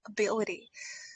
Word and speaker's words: ability: How many syllables we are having here? Ability. I'm talking of the sounds. One 2 3 4. Okay. Ability. So the stress should go on the second syllable. Ability. B I L should be stressed.